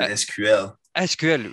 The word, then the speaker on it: SQL: secret not in french in french we said sql sql yeah yeah and in dutch we say sequel